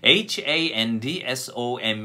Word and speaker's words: handsome: 두번째 어 잘생긴 함 볼까요 행성입니다 핸섬 인데 handsome 입니다 d 가 중간에 들어가 있습니다 그래서 본능적으로